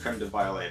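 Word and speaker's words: crème de violette: ounce of creamed violet now this is spelled with an extra t and an extra e on the end so it's actually probably pronounced creme de violet but i'm an american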